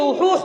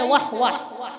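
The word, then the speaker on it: وحوح: হাদিসের বর্ণনাকারী সাহাবীর নাম হুসাইন ইবনে উহুহ রাদিয়াল্লাহু আনহু। কেউ কেউ বলেন হুসাইন ইবনে ওয়াহওয়াহ, ওয়াও হা ওয়াও হা উহুদ, তো বিশুদ্ধ উচ্চারণ হলো হুসাইন ইবনে উহুহ।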